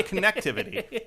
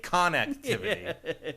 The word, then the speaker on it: connectivity: Not connectivity. Connectivity. They were very precise about what the emphasized syllable was.